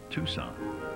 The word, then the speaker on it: Tucson: a quick line from somewhere south of Tucson pronounced Tucson I know why the Confederates lost they were